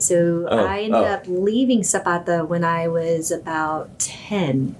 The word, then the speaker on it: Zapata: Zapata.